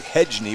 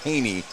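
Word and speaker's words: Hejny: his name's Haas Haney he doesn't spell it that way it's spelled h-e-j-n-y why it looks like hedge knee but it's actually Haas Haney Haney's just a junior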